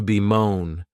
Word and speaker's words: bemoan: The next verb is to be moan. And this verb has two syllables and the stress is on that second syllable.